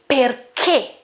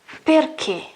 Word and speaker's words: perché: Okay, this H breaks the rule. Okay, breaks the rule. This H is mute, I won't pronounce it. But when I put it between C and G and I or E, okay, I want to pronounce it G, but I go back to the original sound, which is K, G.